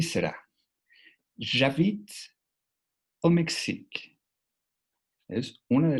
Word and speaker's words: j'habite: En j'habite, la E final tampoco tiene sonido.